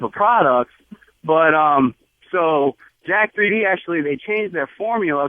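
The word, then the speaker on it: Jack3d: really stupid is it Jack 3D oh yeah that's how that's how people at the gym pronounce it well that's what I'm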